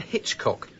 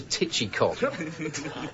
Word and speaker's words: Hitchcock: Besides, I do not appreciate having to tell my class that the correct pronunciation of my name is Mr. Hitchcock, not Mr. Titchy And so at last